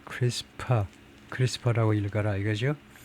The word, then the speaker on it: CRISPR: 아, 크리스퍼션 test is크리스퍼라고 읽는다. 크리스퍼라고 읽는다. 그렇게 생각하면 되겠네요. 예. 예. 이렇게 CRS PR라 PR이라고 이런 식으로 읽는다는 건데요. 크리스파라고 클리 space short repeat 뭐 별 의미가 없고 하여튼 읽을 때 크리스파 크리스파라고 읽어라 이거죠.